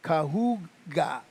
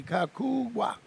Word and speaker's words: Cahuga: here, so that is Cahuga. Cahuga. I went and looked back. I listened to how Pete said it, and now you look, I wrote it phonetically, Cahuga. There you go. You got the pronunciation.